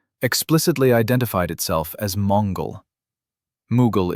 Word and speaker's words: Mughal: Mughal is the Persian pronunciation of Mongol.